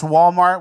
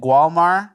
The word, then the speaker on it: Walmart: But, pronounce Walmart without calling it Gualmar.